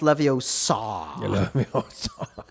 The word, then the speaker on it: Leviosa: Well, actually, It's pronounced Leviosa.